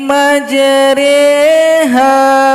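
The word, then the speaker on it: مجريها: Ini berarti huruf 'ro' harus diucapkan dengan miring. 'Ro' menjadi ' re' dan ditahan selama dua ketukan. Bismillahi majreha wa mursaha majreha.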